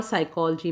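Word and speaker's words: psychology: और साइकोलॉजी में P silent है। जैसे बच्चों, एक उदाहरण ले लेते हैं हम। साइकोलॉजी मान लीजिए वर्ड है, ये जो वर्ड है साइकोलॉजी, इसको हम पी से स्टार्ट होता है लेकिन साइकोलॉजी नहीं बोलते।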